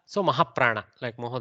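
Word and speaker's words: महाप्रभु: will learn everything so mahaprabhu they are carefully pronounced i am over emphasizing the hakara pronunciation as part of the maha prana but it has should not be too soft it should be a little mahaprana there okay over time it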